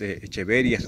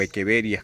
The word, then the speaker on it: echeverias: cuando nos referimos a ciertas echeverias o equeverias, como también se pronuncia.